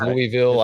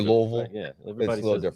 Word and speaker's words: Louisville: how you say it he says louisville i say louisville yeah and you know